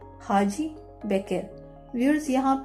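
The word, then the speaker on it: Hacı: आप लोग को बताया टर्किश में जो सी है उसको हम लोग जो इंग्लिश में जो सी है उसको हम लोग बोलेंगे जे। तो उन्होंने हाजी की आप लोग स्पेलिंग देखें, इसको किस तरह लिखा हुआ है हाजी।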